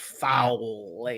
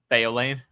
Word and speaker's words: Elayne: Foul-Lane. Very foul. Very unpleasant person. It's also not how I say this name, but it's valid. How do you say it? Elayne.